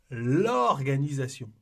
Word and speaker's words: l'organisation: Et ici, c'est la même chose. On dit l'organisation. C'est comme si le L était collé au mot. On ne dit pas j'aime l'organisation.